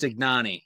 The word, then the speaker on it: Ignagni: It's uh it's pronounced Ignani. You were close.